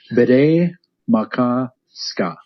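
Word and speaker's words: Bde Maka Ska: You had perfect pronunciation. Do it out of your own. All right. Bde-Maka-Ska.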